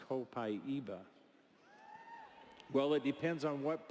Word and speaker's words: Copaiba: Somebody reminded me that you said that Copaiba is supposed to be pronounced Copaiba.